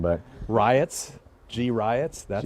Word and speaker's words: Griot: Griot. Griot. Griot. The T is silent. Yes, it goes back to our French heritage.